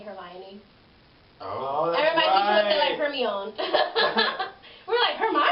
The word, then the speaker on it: Hermione: That reminds me of when Harry Potter came out and everyone learned how to say Hermione.